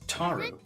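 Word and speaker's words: 樽: it last night myori asked how to say Barrel in Japanese it's taru right Christina she nods taru daru this is chuni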